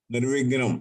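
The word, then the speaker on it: निर्विघ्नं: it should not be Nirvignam, it should be Nirvignang Kurume Deva. Nirvignam, not Vignan. You have Nirvignam. to correct that to Nirvignang Kurume Deva. Kakha Gaga Nga. The sound heard should be Nirvignang Kurume Deva.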